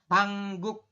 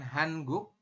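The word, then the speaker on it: 한국: dengan K seperti ini ya tulisannya hanguk tapi nanti sesuai aturan baca Anda Bacanya adalah hangguk seperti itu jadi bukan hanguk tapi dibacanya nanti hang guk jadi niennya itu berubah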